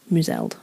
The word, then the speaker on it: Mouswald: the 10th Carruther of Mouseld. Cool. Which was their estate. But it's spelled Mouswald. Oh. By checked, and apparently it's pronounced Mouseld.